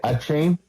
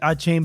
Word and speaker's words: Achane: We have Devon how do you say Achane? Yeah. Achane, the running back from Miami. Yeah, you think it would be Achane, but it's Achan.